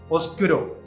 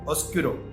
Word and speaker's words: oscuro: But in Italian it is oscuro. No B is there. Oscuro.